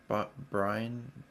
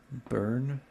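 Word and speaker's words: Byrne: David Brian, is that how you say his name? Burn. David Burn.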